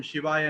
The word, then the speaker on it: சிவாய: ந ம ாய சிவ சிவய கிடையாது சில பேர் அப்படி இப்ப சொல்றாங்க சிவய கிடையாது சிவாய சிவாய அப்படின்னா சிவனுக்கு அப்படின்னு தமிழ்ல அர்த்தம் நமக அப்படி அப்படின்னா வணக்கம் அப்படின்னு அர்த்தம்.